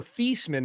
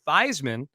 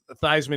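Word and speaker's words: Theismann: change the pronunciation to fisman because it rhymes with Heisman and that'll help your candidacy ultimately it was unsuccessful but I like how Joe thyman has just LED in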